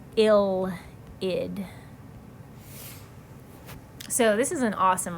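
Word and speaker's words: ylide: right here this reagent is called an ill pronounced ill heed so this is an awesome reaction because it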